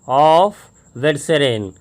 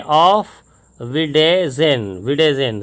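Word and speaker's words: auf Wiedersehen: ये आपको यहाँ पर से ऑफ विडेजेन, सॉरी मैंने इसका प्रोनाउंसिएशन इसलिए बुक में दिया, सब लोग ऐसा ही पढ़ेंगे, तो यहाँ पर दिया हुआ है से, मतलब बोलिए ऑफ, है ना, AUF को ऑफ, और फिर हो जाएगा विडिजन, है ना, विडिजन गुड बाय, ठीक है।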